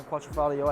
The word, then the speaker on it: Quadrifoglio: Awesome to hear that you guys have the new Julian Quattrofalio. I think I pronouncing that correctly.